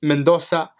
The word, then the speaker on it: Mendoza: my name you know say it's pronounced Mendoza but we chatting a